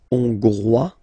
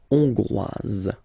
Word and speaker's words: hongrois: Okay, Hongrois, Grois, Hongroise. Okay, so here final S not pronounced for the masculine form, and then you pronounce it here for the feminine form. Hongrois, Hongroise.